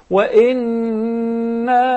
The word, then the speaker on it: وَإِنَّا: Every time, Sister Ambreen, you see a noon that has a shadda or meme, then we must apply the ghunna. We pronounce the ghunna along with it, because actually it was 2 noons or 2 memes. So we must say وَإِنَّا لَجَاعِلُونَ.